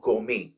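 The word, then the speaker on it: gourmet: eccentric मतलब सनकी और गोमे इसमें आर और टी दोनों साइलेंट है इसका मतलब होता है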